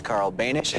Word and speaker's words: Carl Banish: My guest name rhymes with Danish. His name is Carl Banish.